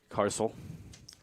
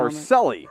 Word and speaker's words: Carcelli: This inning looks like it will belong to Carcel. Or what was the pronunciation? Carcelli. Carcelli. Carcelli, a senior from Lewis